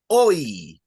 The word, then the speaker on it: hoy: The H is silent. Oh, you're the best. Beautiful. So the H will always be silent unless there's an C in front of it.